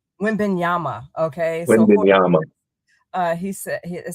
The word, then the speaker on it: Wembanyama: How do you say his name, Nehemiah? Wembanyama. Wembanyama.